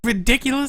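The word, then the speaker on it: Riddikulus: The spell is called ridiculous. Well, it's spelled RIDIKKULUS.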